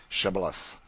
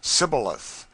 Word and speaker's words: Shibboleth: who could not say Shibboleth. The Ephraimites, being of a different tribe, could not frame to pronounce the word right, but called it Sibboleth, which proved them enemies and cost them their lives.